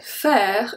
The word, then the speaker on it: faire: J'irai faire une randonnée. J'irai. J'irai. Here the S at the end is silent. J'irai. Faire. Faire. So the last letter that I pronounce is the R.